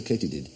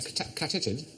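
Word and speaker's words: katydid: Katy dids why might they be called a Katy did a KD no it is actually pronounced Katy did because supposedly the sound they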